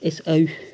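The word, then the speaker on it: Ésaü: j'ai haï this is our souhaitait isso qu'on prononce s a eu souvent annotés de dieu que disons-nous donc y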